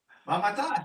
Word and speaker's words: Mamatas: Mamatas, you pronounced the name correctly.